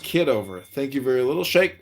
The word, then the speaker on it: Kitover: It's pronounced kiddover.